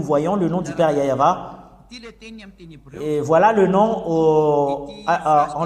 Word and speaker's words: Yah: Concernant la prononciation de Yod et He, c'est Yah. C'est Yah qu'on prononce.